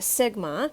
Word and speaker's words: sigma: see this greek letter of the alphabet it's pronounced sigma and what it represents it means to sum